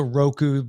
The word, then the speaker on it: Roku: fire stick and also roku rhymes with coke ooh coco cola roku